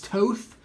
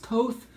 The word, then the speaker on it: Toth: Now, some people pronounce it Alex Toth. I've heard it pronounced Alex Toth, but I can't do that.